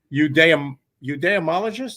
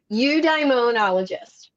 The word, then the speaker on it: Eudaimonologist: Eudaimologist. Am I doing that right? Nope. Okay, well then straighten me out. Correct me. Eudaimonologist.